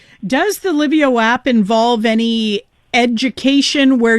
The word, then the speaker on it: Lyvio: Does the Livio app involve any education where you're explaining to